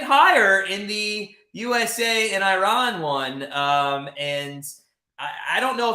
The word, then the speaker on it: Iran: Okay, so essentially an Iranian reporter went at Adams and the coach and said basically, number one, it's Iran, not Iran. So if you could pronounce our country correctly, we'd appreciate it.